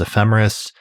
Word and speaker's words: ephemeris: But I think we're talking about it, in our working pronunciation is ephemeris, and the plural is ephemerides, although I've also heard ephemerides, but I don't think that's the correct pronunciation.